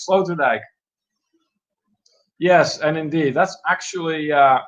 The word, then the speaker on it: Sloterdijk: That's how you say it, Sloterdijk.